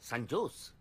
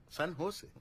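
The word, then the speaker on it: San José: ও বাবা, সান জোস? সান হোসে। সান হোসে, হ্যাঁ সান হোসে। জের উচ্চারণটা এইচ এর মতো হবে, সান হোসে।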